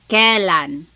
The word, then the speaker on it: kailan: Then the word kailan, when. You might hear some people say kailan. Sounds like an E, but it's technically spelled with an AI.